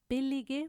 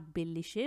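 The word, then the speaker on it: billige: वो ये है कि जब हम एंड में जो वर्ड्स आईजी के साथ एंड करते हैं उनकी एंडिंग्स लगाएंगे तो फिर वो गे की तरह प्रोनाउंस होगा। जैसे कि बिल्लीगे प्रोडक्टे सही है, अगर आप बिल्लीशे प्रोडक्टे बोलेंगे तो फिर वो सही नहीं है।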